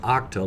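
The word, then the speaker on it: Okta: very good volume pattern octa I used to pronounce that hope this pronounced octal like octane they're basically in the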